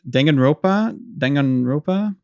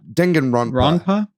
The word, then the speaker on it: Danganronpa: They showed off, I can never say this one, and Danganronpa, however you say that. Danganronpa. Ronpa? Ronpa. Danganronpa.